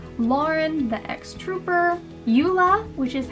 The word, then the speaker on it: Ula: i'm saying his name right lauren the ex-trooper yula which is how the internet told me to pronounce it even though throughout the whole book i was pronouncing it allah but eula the spy and eldon axe which is the